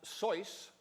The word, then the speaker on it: Seuss: He created the pseudonym Seuss, originally pronounced Soice, in order to keep writing for the Jack-O.